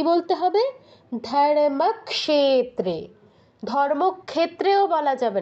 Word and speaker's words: ধর্মক্ষেত্রে: আমি অনেককে দেখেছি এই ধর্মক্ষেত্রে এটাকে উচ্চারণ করছে ধর্মক্ষেত্রে স টা আগে নিয়ে আসে কেন অনেককে দেখেছি আমি স আগে আনা যাবে না দেখুন যেই ভুলগুলো হতে